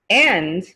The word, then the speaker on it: and: are you going and makes an n sound n sound n n i